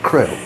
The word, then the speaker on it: Crail: How would you pronounce it? Crail.